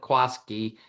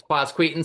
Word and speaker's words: Quasqueton: Everybody calls it Quaskki because they can't go Quasqueton. I don't think the kids that even grow up there can spell it or say it very well, but um but it's quaseton.